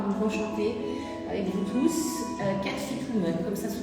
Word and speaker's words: Cat Fit Woman: Cat Fit Woman, comme ça se prononce.